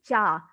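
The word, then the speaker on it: च: See, when it comes to Sanskrit, CA means cha, not ka. Okay, don't pronounce it as ka.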